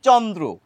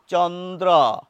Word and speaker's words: চন্দ্র: আবার দেখুন, লক্ষ্য করুন, চন্দ্র আমরা বাংলায় বলি চন্দ্র, অর্থাৎ শেষে যে নিহিত অ আছে তার উচ্চারণ আমরা ও করি। সংস্কৃত ভাষায় কিন্তু এটাকে বলা হতো চন্দ্র, অরক্ষিত হতো। সংস্কৃত ভাষায় কিন্তু ওই নিহিত অয়ের উচ্চারণ ও হতো না।